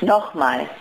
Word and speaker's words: nochmal: Did I say it right? Nochmal? Noch. Nochmal. Nochmal? Mal. Nochmal? Nochmal.